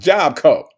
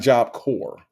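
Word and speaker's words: Job Corps: Prima Wanda said Miss Kim Native said it's pronounced Job Co. Okay. It's Job Co. No, there's no core. It's not Job Core.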